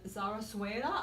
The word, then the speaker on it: zarzuela: You sang Zarzuela, or pronounce how you say that.